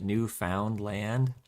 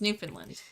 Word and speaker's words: Newfoundland: Is that why they called it Newfoundland? No, and that's not how you say it either. It's Newfoundland. Newfoundland.